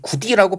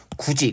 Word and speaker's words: 굳이: 발음되는 거 자 보세요 어떻게 발음합니다 그죠 이걸 이걸 굳이 구이라고 발음하지 않을 겁니다 그래서 굳이 그다음에 얘는요 역시 밭이 이렇게